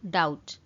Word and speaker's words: doubt: Eighty गोटे जिनसे notice करिवे फ्रेंड्स बी अछि बट बी टा प्रोनाउंस कला बेले साइलेंट हो जाए तो सेति पय आमे पढू डाउट. डाउट.